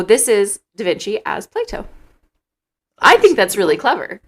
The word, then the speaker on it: Plato: before you started talking play to with a T it's spelled that way not with a d to imply that it is do that one plays with but I definitely pronounce it Plato and I think most